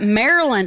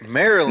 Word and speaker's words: Maryland: all hey we got lots of we got Maryland here Marilyn Marilyn I used to pronounce it Mary land and then I was